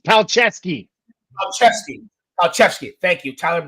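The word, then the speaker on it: Palczewski: George Payton in our depth because with Alex pusi you see we have a good right tackle we're talking about pronouncing names right it's paleski aleski aleski thank you Tyler Bay running back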